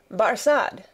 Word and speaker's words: Barsad: so much the better his name barsad said defarge making it french by pronunciation but he had been